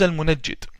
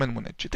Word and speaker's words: Al-Munajjid: His name is Al-Munajjid, or Al-Munjid, depending on the pronunciation. The Yemenis call him Al-Mungid or Al-Munajjid. I call him Al-Munajjid.